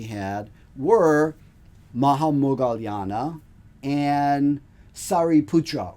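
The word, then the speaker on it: Śāriputra: were Maha Mogalana and Sari Putra or Shahi Pura that's the other way to say his name whom we mentioned when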